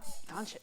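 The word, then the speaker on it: Dončić: Doncic.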